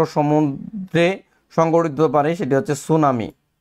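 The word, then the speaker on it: tsunami: সংঘটিত পারে সেটি হচ্ছে সুনামি কি হতে পারে সুনামি পরীক্ষার জন্য সুনামি বানানটা পরীক্ষায় আসে সুনামি বানানটা ইংরেজিতে হচ্ছে সুনামি সুনামি সুনামি সুনামি এটা হচ্ছে বানানটা হচ্ছে টি এস ইউ সুনামি সুনামি সুনামি এই বানানটা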